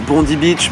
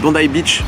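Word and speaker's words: Bondi Beach: as beaucoup de plages tu as Bondy Beach bondai Beach bondai Beach excusez-moi bondai Beach ça se prononce bondai Beach incroyable c'est super tu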